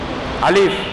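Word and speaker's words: ألف: இதே மாதிரி இதுலயும் வரும் இதெல்லாம் என்னது ஆ அப்படின்ற உச்சரிப்புதான் அலிஃப் தான் இதை நம்ம ஃபர்ஸ்ட்ல மனசுல ஆழமா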